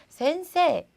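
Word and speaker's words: せんせい: 그런데 센세이라고 하지 않고요. 앞에 있는 그냥 세를 길게 해주세요. 센세, 센세라고 해주시면 돼요.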